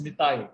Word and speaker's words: Nitai: And this little boy, Nitai, he taught her how to pronounce by breaking down the words. He said knee. He pointed out to his knee, saying knee, knee, knee, say knee. And she could say knee easily.